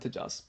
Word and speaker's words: Tojas: name is and usernames Tas not tojas first of all it's pronounced ha like jalapeno tah whatever you don't care